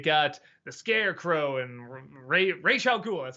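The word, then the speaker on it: Ra's al Ghul: you know you got the Scarecrow and Ray Raya goul that's how you say his name uh and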